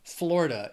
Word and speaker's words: Florida: the next date Florida it also has three syllables and the stress is on that first syllable Florida it's the Sunshine State